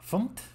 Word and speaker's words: fmt: Lo he estado pronunciando mal, por cierto, se pronuncia FUMT.